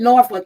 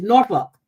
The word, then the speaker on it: Norfolk: They don't pronounce it Norfolk. It's Norfolk.